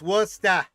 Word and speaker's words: Worcester: So, And it's pronounced Worcester.